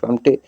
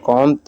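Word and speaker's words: Comte: में लिखा है कि विभिन्न पुस्तकों अगस्ट कामटे अगस्ट काम या कुम या काम आदि लिखा गया है परंतु वे तमाम गलत है इसका सही उच्चारण अंग्रेजी और फ्रांसीसी भाषा में अगस्ट कन होता है और वही प्रमाणिक भी माना जाता है समाजशास्त्र के जनक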